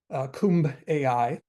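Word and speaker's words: KumbAI: He's a CEO of the company that made him, which I believe I'm pronouncing it right, is Kumb AI, which is a play on Kumbaya, right?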